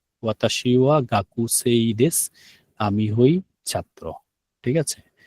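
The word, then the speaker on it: です: শব্দটা হচ্ছে দেশু, কিন্তু আমরা যখন কথা বলি তখন দেশ বলে আর কি, না? কথা বলার সময় দেশ উচ্চারণ করে আর কি, দেশু বলে না আর কি।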